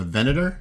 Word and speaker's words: Venator: It's a recording of what took place on the Venator. Is that how it's pronounced?